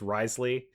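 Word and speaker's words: Wriothesley: and then earlier with I think it's Risley is how you're pronouncing it. even though the name got way more letters than that.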